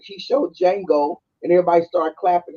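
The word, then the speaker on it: Django: then he's like showed Jango and everybody started clapping he said the D is silent and then he show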